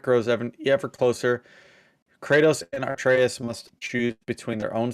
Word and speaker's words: Atreus: Kratos and it's why can I never pronounce it anymore? Atreus, that's it.